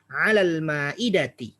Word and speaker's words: على المائدة: Kita bacanya 'alal ma'idati.